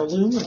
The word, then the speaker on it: aluminum: The next thing that you want to do is get your aluminum foil. Or as the British say, aluminium foil. Either way, aluminum or aluminium.